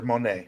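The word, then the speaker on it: Monáe: is that her name Monet you're not saying it right but that's the correct answer Monae p p Monae we got two places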